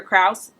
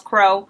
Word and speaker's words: Krause: be talking about Alexander Krause and I've heard his name pronounced a couple of different ways I've heard Kraus cross Crow but the main pronunciation that I heard was Krause so yeah we're gonna